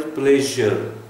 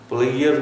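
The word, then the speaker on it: pleasure: ये pronunciation of the word is प्लेजर, प्लेयर नहीं है।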